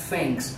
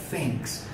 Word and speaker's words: thanks: Entonces la palabra gracias se pronuncia thanks, ubica su lengua entre los dientes y hace un soplido, thanks.